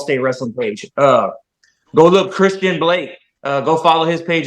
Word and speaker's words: Xtian: Go look Christian Blake. Go follow his page as well, Braxton Hunter. And that's Xtian, pronounced Christian, not Xtion.